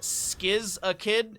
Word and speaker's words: Skizakid: The ETC player name is pronounced Skizakid, if I recall.